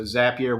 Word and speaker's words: Zapier: zapier in there so zapier where you're always happier if you're doubting how to say it just rhymes with happier h-a-p-p-i-e-r i can say